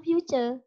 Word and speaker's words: future: kadang mungkin gini wis Kok bisa ya tulisannya kan future Kenapa membacanya future nah biasanya kata yang